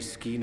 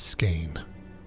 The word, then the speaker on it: skein: said catastrophe be averted the very scheme of thine existence will unravel surely thou Hast foreseen this is pronounced skein I am aware of